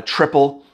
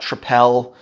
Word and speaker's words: Tripel: it dubel or uh triple it's pronounced triple it's not tripel um those beers actually